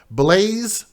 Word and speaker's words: Blaise: by the name of blaze barnett and his name is spelled b-l-a-i-s-e blaze he's one years old